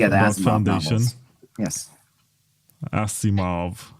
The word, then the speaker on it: Asimov: Asimov. How do you say that in American English? I say Asimov. Asimov. We say Asimov here in Eastern Europe. It sounds classier.